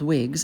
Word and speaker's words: Whigs: Patriots, also called Whigs, and I don't mean the kind you wear on your head. It's spelled WHIGS, a form of government,